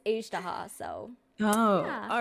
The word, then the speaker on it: Ajdaha: Because I say Ajaha, but I think I'm wrong. No, I think it's like both are right. I think in like because like my game is in Korean, so usually I just Mhm. follow whatever the Korean pronunciation is. I think they say like Okay. Ajdaha. Okay, okay. So But kind of close, yeah, sort of. but in I think in English it is Ajdaha, so Oh, yeah.